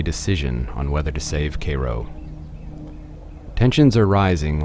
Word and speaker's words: Cairo: are named after Egypt which would be Koo which it's not pronounced Cairo ask anybody it's Koo early of course early